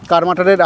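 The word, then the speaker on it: কার্মাটাঁড়: যাব এখান থেকে 10 কিলোমিটার দূরে কার মাটারে। সেটাই আমাদের আজকের ভ্রমণ তালিকার প্রথম গন্তব্য। একটা অসাধারণ সুন্দর পথ দিয়ে চলেছি আমরা। সুনীল গঙ্গোপাধ্যায়ের লেখায় পাই বাঙালি উচ্চারণে করমাটা। আসল নাম কর্মাটার।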